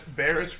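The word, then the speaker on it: Barriss: Says Barris rhymes with terrorist.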